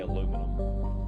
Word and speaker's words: aluminum: or is it okay it's definitely not aluminium right aluminium i do believe that would be the proper way to say it but i'm an american we say aluminum we're very stubborn in